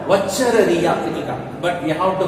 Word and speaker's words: Wuchereria: See the spelling for Wuchereria, W-U-C-H-E-R-E-R-I-A. That is called Wuchereria, but we have to pronounce it as Wuchereria bancrofti.